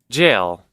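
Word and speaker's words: gaol: the does that mean Jail jail well read it in the G is jail in France okay wait ises it pronounce jail and he just types it's pron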